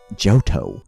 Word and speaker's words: Johto: I say it like that. Johto.